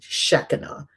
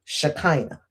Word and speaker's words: Shekinah: In Judaism, I believe they pronounce it Shekinah. I've heard it in churches, Shekinah.